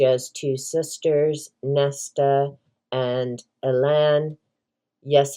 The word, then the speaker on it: Elain: She has two sisters, Neesa and Elan. Yes, I pronounce it Elan because my name is Elaine and I know how to spell my own name.